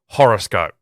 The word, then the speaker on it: Horrorscope: Horrorscope. So you still pronounce it the same, but it's got the R in there, like it's making a play on horror and horoscope.